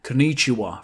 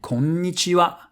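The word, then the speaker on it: こんにちは: ‘Konichiwa’... for example The stress is not at the same spot. ‘Konichiwa’ and ‘kon-nichiwa’ Can you tell the difference?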